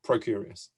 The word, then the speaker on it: Procurious: you do what you do at and i'll pronounce it correctly this time pro curious okay yeah thanks well i was somebody that